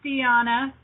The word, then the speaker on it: Dianna: prayers guys hide idea Diana I almost called you haha hi Mary Margaret hi in german it's pronounced Tiana is it yeah I